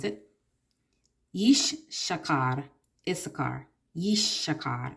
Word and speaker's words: Issachar: Yishshakar is how you pronounce it.